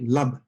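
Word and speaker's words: LUB: bound all right and i will abbreviate it l u b and i'll pronounce it love okay dually if x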